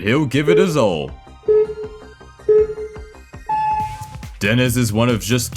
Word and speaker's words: Dennis: Apparently it's pronounced Dennis, not Deniz, so I apologize.